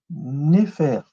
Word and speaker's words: nfr: C'est un trilitère qui s'appelle Néfer. Mais le scribe, il te dit que ça se lit Néfer. Pourquoi? Parce qu'il rajoute en complément phonétique la vipère à cornes, qui est un unitaire, qui est un F, et la bouche ouverte, qui est un R.